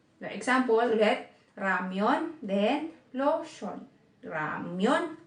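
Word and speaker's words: 로션: Then, pag yung lotion naman, kinonvert nyo sa Korean, kapag yung lotion naman, kinonvert nyo sa Korean, magiging lotion. Lotion. Diba? L naman yung pronunciation niya.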